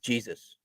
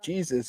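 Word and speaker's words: Jesús: I was a kid I didn't call Jesus that I said Jesus because I didn't know what I didn't know how to pronounce Jesus I remember me and my mom going to a Padre game and she was like it's not Jesus it's Jesus Kyle blanks Mark Kat yasmani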